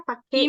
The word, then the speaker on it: Park: si Latinnya tuh gitu makanya Pak dibacanya eh tulisannya Park tapi dibacanya Pak gitu r-nya enggak kebaca terus apaagi ya tadi